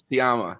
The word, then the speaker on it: Sciamma: Celine Sciamma, yeah.